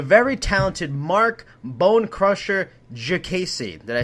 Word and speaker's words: Diakiese: the UFC, the very talented Marc Bone Crusher Diakiese. Did I say it right, Phil? Diakiese?